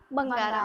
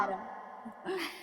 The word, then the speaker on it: Bangaaram: तो आ गए हम फाइनल फाइनल पार्ट लेकर, पार्ट 3 लेकर माँ इंती बंगारा। बंगारम। थोड़ा नाम में कंफ्यूजन है, नाम बाकी में नहीं, प्रोनाउंसिएशन में।